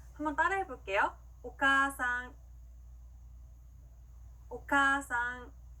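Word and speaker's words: お母さん: 자, 봤을 때요, 어머니라고 하는 일본어 단어는요, 오카아상이라고 읽는 게 아니라 오카상이라고 카를 길게 발음해줍니다. 한번 따라해 볼게요. 오카상, 오카상.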